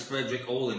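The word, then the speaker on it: Fredrik Åhlin: Allen Frederick all them I've been saying it wrong for the past four years the band is Frederick all in I got it right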